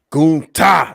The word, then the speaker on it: Gunther: Gunther, that's his name. Like, you gotta say it like that, bro.